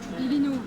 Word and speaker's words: Biglino: Elle te beaucoup parle lu, d'un elle a- Italien qui s'appelle Mauro Bilino. Billino. On prononce- Faut le dire avec l'accent. Ça s'écrit Biglino, mais on prononce Bilino.